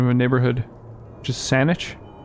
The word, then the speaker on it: Saanich: a neighborhood which is saanich with two a's and pronounce it like it's a niche not grabbing the gun